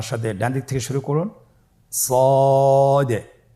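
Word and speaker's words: صاد: মোটা হরফ উচ্চারণের ক্ষেত্রে মোটা করে পড়তে হবে এবং উচ্চারণ করার সময় তিন আলিফ টেনে পড়তে হবে আপনার আমার সাথে বলুন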